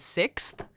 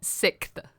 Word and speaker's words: sixth: I recently found out my partner can't say I get not correctly but like in the way that it's spelled is sixth oh six you're WR okay six and I was like what did you say and he's like six and I'm like oh